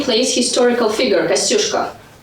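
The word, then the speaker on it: Kościuszko: One of the subway stations here is called after the B place historical figure Kasushka. In a place they pronounce this name in a funny way. People in Brooklyn say Kasushuska.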